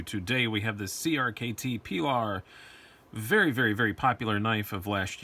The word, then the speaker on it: Pilar: Pronunciation clarification: some people say Pilar, some people say Pilar. I say Pilar because it was named after the name of